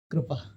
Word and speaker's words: कृपा: अच्छा, क्योंकि कृपा है, कृपा जनरली होता है, हाँ, तो कृपा कृपा। इन्होंने लिखा है इसलिए। हाँ, बिल्कुल करेक्ट प्रोनाउंसिएशन है एक्चुअली, हाँ, जो कृपा।